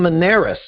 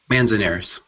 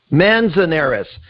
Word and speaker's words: Manzanares: interesting, today's guest, William Manzanares. Now, William, I said your name incorrectly. How do you say your last name correctly? Manzanares. Manzanares. I knew I missed a vowel in the middle of that.